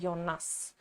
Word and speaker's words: Jonas: یونا تلفظ می‌کنن و این اسم رو هم یوناس حالا یا یوناس نمی‌دونم ولی از جایی که که دو تا کرکتر اصلی اسماشون این شکلیه ممکنه قاطی بشه هی من بخوام بگم یونا یوناس برای همین به دختره